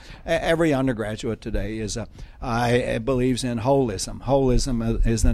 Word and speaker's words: holism: And it's spelled holism not because there's a hole in it, but because English speakers can't pronounce holism, because it's really the whole damn thing that we're talking about here. It's holism not with a hole, but rather with the whole thing involved.